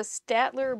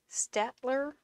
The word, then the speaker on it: Staedtler: a good job so staedtler or steeler because in german you pronounce the second vowel i think is a long vowel stitcher mars plastic and then